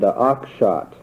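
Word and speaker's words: Oakeshott: Traditionalism being represented by men like Burke and Oxshott. I should tell you that I'm not entirely convinced that I'm pronouncing Oxshott's name correctly, but that is the way I will pronounce it. It's spelled O-A-K-E-S-H-O-T-T, and he's a contemporary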